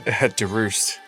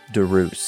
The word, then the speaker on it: Deroest: Deroest. Deroest. Yeah, like rooster.